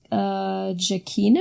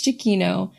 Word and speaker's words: Giacchino: Yeah, we should say, I meant to say this last time, but the composer his name is Michael Giacchino?